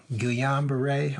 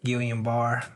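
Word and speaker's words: Guillain-Barré: a autoimmune disease called a GU Yong beret or guillain-barre however I've had hard to pronounce different ways I let my family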